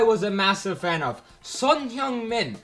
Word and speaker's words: Son Heung-min: Son Heung-min. That's how they say his name there. It's not Heung-min Son, it's Son Heung-min.